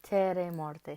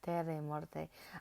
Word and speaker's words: Terre et Morte: It's French. It's Terre et Morte. So, I've been saying it right, I think. Yeah, Terre et Morte.